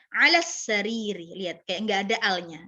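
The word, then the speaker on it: على السرير: dan bacanya kalau misalnya gini, hiya ala, ya kan, ala as-sariri. Juga bacanya nggak perlu hiya ala as-sariri, terlalu berat, ya kan? Nah, maka langsung digabung aja, hiya ala sariri. Alif lamnya langsung ke sin, ya.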